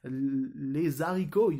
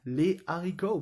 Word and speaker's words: les haricots: Like, you don't say les haricots, you say les haricots, because it's an aspired H. You breathe in the H's, but you don't pronounce them.